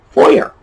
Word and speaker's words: foyer: you pronounce it well we pronounce it just like it's spelled and that's going to be one of the few words on our list today that is spelled exactly as it sounds foyer uh people will get